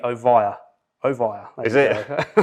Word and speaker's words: Ovia: thought about uh ivy how should you pronounce it it should be ovaya ovira is it right